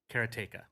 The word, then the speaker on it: Karateka: up to Jordan and Jordan pronounces it and I might get this wrong but he pronounces it keratea ca is one of